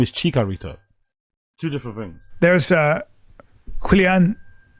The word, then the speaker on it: Chicharito: You said Cheeto. Chicharito. Oh, there's... Yeah, you said it wrong. You know what I mean? He's still incapable of admitting he's wrong. You did it wrong. You said Chitorito.